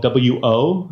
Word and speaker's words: Wo: So my name is Wo, and the last name is spelled W-O. It's pronounced Wo, and before you ask, it is a Chinese name, but I am not Chinese.